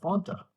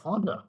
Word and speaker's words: Fanta: Like, what about Fanta? Which is actually how you pronounce it. You don't pronounce it the way the McDonald's people tell you how to. What about Fonda?